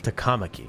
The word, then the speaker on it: Takamaki: Is that, I thought in Japanese they put the emphasis on the first syllable, like The Takamaki, shadows have noticed not us. Takamaki.